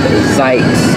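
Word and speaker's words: Zzyzx: But this street here is called Zykes, and it's spelled Z-Z-Y-Z-X.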